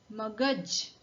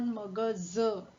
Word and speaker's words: magaj: Magaj, magaj. Remember, this is not magaz, it is magaj. Z and J are two pronunciation of alphabet Z.